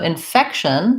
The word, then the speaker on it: infection: us with reinfection so infection has second syllable stress on the fec we have an unstressed in its vowel like in red tent infection fection i think we pretty much say that with a k and an sh sound